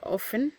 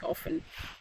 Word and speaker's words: often: like always often or often so here most people will prefer saying the T here but the correct English the t is silent so it's often okay so even the